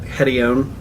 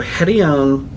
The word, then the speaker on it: Hedione: So I pronounce it Hedione. People pronounce it different things. So Hedione is a really good one.